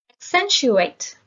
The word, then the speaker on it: accentuate: antagonize decent demur protest accentuate the stress is on the second syllable accentuate is a verb